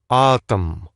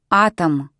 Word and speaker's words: Атом: Атом. The stress is on the A, the and so the O goes unstressed. Listen again. Атом.